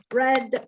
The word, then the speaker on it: read: you didn't read okay it's a very funny verb because it's to read red red and they're written the same the same spelling but the pronunciation is different so you didn't read